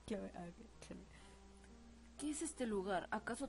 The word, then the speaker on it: Cloé: tan cabezones es que Cómo se pronuncia Chloe porque en japonés era kuroe Ah pues entonces sí es Chloe cloe Qué es este lugar